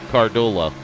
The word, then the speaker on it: Cardullo: And it's pretty cool if you can see the detail on it, because you can actually see the eye is silent, okay? Cardullo.